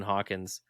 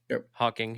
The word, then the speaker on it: Hawking: you had somebody like Stephen Hawkins Hawkins Hawkins you guys know who I'm talking about Hawking okay so I said it wrong three times um imagine if you